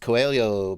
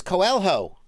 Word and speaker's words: Coelho: quads need fast response i know how to produce pronounced coelio because i uh i hung out with brazilian people for a while you're not gonna get me with those tricky h's uh this guy's name is coelho right coelho no sir